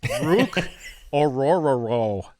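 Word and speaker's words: Orhorhoro: to draft this guy it's Rook aoro that's how you pronounce his name Rook aoro of Clemson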